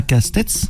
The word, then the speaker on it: Castet: Lucie Castet, on a parlé avant off et non pas Castets, ça, Castet. Castet, ouais. Castet, puis il y avait l'ancien ministre Castex, c'est Castet, merci, parce que je vais